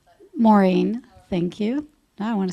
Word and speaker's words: Morin: Sophie Morin. Here. Did I say your last name correct? Maureen.